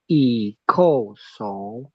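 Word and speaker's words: 一叩首: Oke, 1 kali, ya, itu kita bacanya atau ucapkannya i ko so, ya, itu 1 kali.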